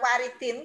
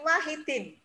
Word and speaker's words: Wahidin: masih ada kekeliruan sedikit Bukan waridin tapi Wahidin Dokter Wahidin Sudirohusodo nah